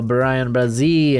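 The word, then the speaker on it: Bryan Bresee: Pittsburgh Steelers go Brian Brazil, and if you got a problem with the pronunciation, take it up with Clemson's website. That's how they have it pronounced.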